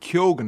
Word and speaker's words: Keoghan: Is it Keoghan? Is that how you pronounce it? Keoghan, yes. Barry Keoghan.